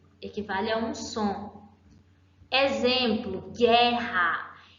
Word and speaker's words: guerra: Em guerra eu tenho dois dígrafos. Por quê? Quando eu pronuncio gué, eu estou pronunciando apenas o som de uma vogal. As duas vogais, o U e o E, equivalem ao som de uma, certo?